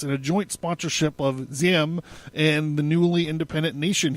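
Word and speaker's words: Diệm: of times, Nego Dan Ziem, they pronounce it Ziem, but it's Diem, was determined to uproot French influence as a concomitant to the establishment of a genuinely independent nationalist government.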